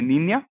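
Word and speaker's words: niña: Next letter है हमारे पास N with crown, और ये हमको आवाज देता है न्य, ओके। तो इसमें आप इसमें हम एग्जांपल्स ले सकते हैं, नीन्या, नी, न्या। तो इसका प्रोनाउंसिएशन होगा नी, न्या, और इसका मतलब होता है छोटी बच्ची।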